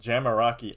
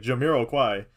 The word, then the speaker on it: Jamiroquai: it's by this guy by this guy called jamaraki I I that's what I how to pronounce it I didn't know it was like Jamiroquai I had no notion of French in my